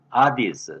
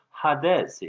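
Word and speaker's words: ᾅδης: 이것을 아디스, 제가 현대 그리스 말로 발음을 해봤어요. 일반 신학교에서는 하데스 이렇게 발음하는데 아디스, 이 영어로는 헤이디스 이렇게 그리스 말에서 그냥 음역을 해왔습니다.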